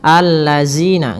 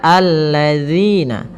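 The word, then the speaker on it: الذين: Kemudian pada lafal zina, hati-hati dalam melafalkan zalnya, jangan sampai kita membacanya dengan zina, allazina, enggak, tapi dia allazina.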